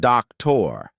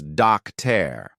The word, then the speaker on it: doctor: It is not doctor. It is docter.